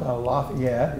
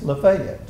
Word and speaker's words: Lafayette: And uh you know down there it's not Cairo, it's pronounced Cairo. Cairo, Georgia. And it's not Lafayette, it's Lefayet.